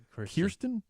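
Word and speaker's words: Kirstjen: Kirsten.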